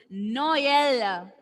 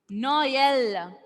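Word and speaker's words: Noël: Now, another word is Noel. Noel. Noel means Christmas. Christmas. Christmas. Noel.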